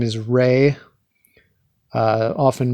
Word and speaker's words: Ra: rey but you know it's often misread as raw anyway so rey is